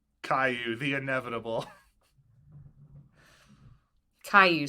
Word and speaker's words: Caillou: Caillou spelled C A I L L O U. I get that it's French, but if you had never heard anyone pronounce it, there's no way that's what you would think.